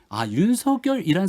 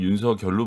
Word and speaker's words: 윤석열: 거듭 윤석열 후보에 대한 네거티브 공세를 펼치게 되면 윤석열이란 사람이 왜 정치를 해야만 하는가에 대한 당위성과 명분들을 거듭 계속 설명해 준다라고 생각합니다. 근데 지금 대변인님이 쭉 말씀하시는 거 들어보니까 국립국어원의 요청대로 윤석열로 발음을 하시는데 이게 좀 어려워요.